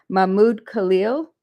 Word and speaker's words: Mahmoud Khalil: And hopefully I'm going to pronounce his name correctly. It's Mahmoud Khalil.